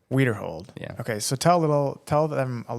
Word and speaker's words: Widerhold: Connor how do you say your last name weer hold weer hold yeah okay so tell a little tell them